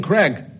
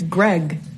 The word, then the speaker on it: Greg: by the way cousin Craig it's it's Greg no yeah uh Greg um people sometimes like mistakenly call me Craig too so I'll answer